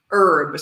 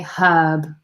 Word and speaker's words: herb: the pronunciation difference so in the United States we say herb so I would say time is an herb it's a silent H and in the UK we say hub so time is a herb the article of the